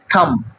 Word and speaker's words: thumb: THUMB, থাম, থাম নট থাম।